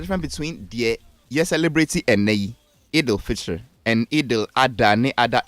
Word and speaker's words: Eid al-Fitr: And now Eid al-Fitr. Is the pronunciation right?